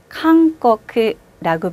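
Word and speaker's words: 韓国: 가, 기, 그, 개, 고 이렇게 카행과 또 가행 글자들이 뒤에 오면 얘는 이응 받침처럼 하는 경향이 있어요. 이응 받침에 가깝게. 그래서 한국을 발음할 때는 캉꺼크라고 발음합니다.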